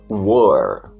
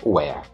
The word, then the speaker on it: were: Essa pronúncia é were, não é where. Were, verbo to be no plural.